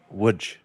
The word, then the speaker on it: Łódź: in Łódź, Poland, which, if you look at the spelling, it says Lodz. It is pronounced Łódź. It is actually my family's ancestral hometown. Oh, is that right? Yep, I visited Wutch for a week and